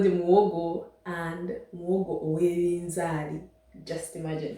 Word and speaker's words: Muwogo: Okay, I didn't know it was even pronounced or written muhogo. I didn't know that. Okay, today I'm going to do muwogo. If you're from Uganda, it's called muwogo, and Muhogo Ow'ebizaali.